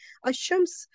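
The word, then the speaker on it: الشمس: Okay, but Lam is not, we will not pronounce it, we will skip it, we will drop it. We can say that we will not pronounce it, it will be the silent Lam, but it's still there.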